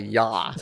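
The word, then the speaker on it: я: It's actually called a ya. It's pronounced ya.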